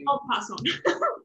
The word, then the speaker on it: en passant: Apparently, nobody knows how to pronounce it correctly. It's French. It's called, I'll pass on.